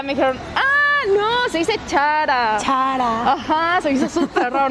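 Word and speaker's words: Zara: Sí, tenemos Sara. ¿Y cómo se dice? Adivina. ¿Será? Se dice Chara.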